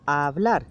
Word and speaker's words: hablar: Vamos a ir para esa practicar la palabra hablar, que en este caso, como veis, es muda la H.